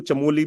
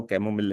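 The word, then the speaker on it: chamomile: Green tea, ठीक है, इसको चमोली भी कहते हैं लोग, ठीक है। मैं, इसका राइट प्रोनाउंसिएशन जो है वो कैमोमिल है।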